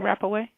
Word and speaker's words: Rapaway: Is his the proper name Rapaway? I'm sorry. Is the proper last name Rapaway? That's how you pronounce it? Yes, proper name.